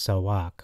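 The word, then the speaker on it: צעק: eight one seven no not socks like you wear uh it's actually pronounced sawak okay so walk to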